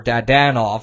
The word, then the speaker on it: Dadonov: And even players that were signed from previous NHL teams, like Evgeny Dadonov, or Dadanov is apparently how you say it.